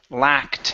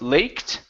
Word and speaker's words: lacked: we have the word lacked instead of laked this is La lacked lacked okay very good uh